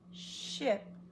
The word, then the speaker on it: ship: Sheep got off the ship onto the shore these two words are close but they're not the same many people want to pronounce these two the same it's sheep ship sheep ship that's a vowel lesson